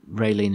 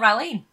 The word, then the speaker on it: Raylene: If you look at the goofs, there's also the case that when Raylene is checking in... Mm. Have I said her name wrong? Not Raylene. Oh, I think I'll go. That's right.